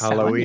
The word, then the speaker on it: Samhain: It's pronounced Samhain, yeah, for Halloween.